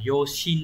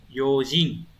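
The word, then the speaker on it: 用心: phần cách đọc đấy, từ này không phải đọc là yoshin đâu. Cái này nó sẽ biến ra một chút yojin, chữ tâm đọc là jin.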